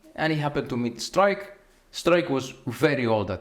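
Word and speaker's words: Struik: came from darkk St strike the correct pronunciation strike mhm he was a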